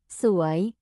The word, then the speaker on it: สวย: Từ này đọc là Suối ạ. Nó đánh vần thế nào ạ? Nó đánh vần là Só-ùa-yò Suối Xin hãy lặp lại một lần nữa chậm chậm được không ạ?